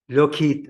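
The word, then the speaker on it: Lockheed: لوكهيد هكذا تلفظ.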